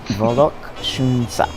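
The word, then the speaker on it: Vollok Shoonsa: Papa's palace is called Volokshunsa. Did I say it right? I don't know. Volokshunsa.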